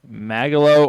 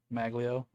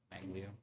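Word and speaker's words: Magglio: I have Magalo Ordonez.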